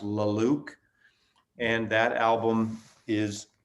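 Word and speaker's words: La Luz: you know stream them or something but it's pronounced la luke and that album is called sculptor sculptor i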